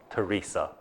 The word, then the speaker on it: Teresa: So she changed the spelling and the pronunciation to the Spanish form, Teresa.